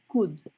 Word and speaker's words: could: so it's not cool you don't pronounce the l you only say good